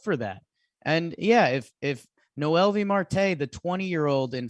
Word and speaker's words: Noelvi: Noelvi? Yeah, just straight up Noelvi.